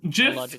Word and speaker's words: GIF: the that way and JF still technically rolls off the tongue it's just GIF sounds better in my head um and I can't